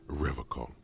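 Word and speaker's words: Revachol: say the name right he pronounces rivercon with a hard k unlike other people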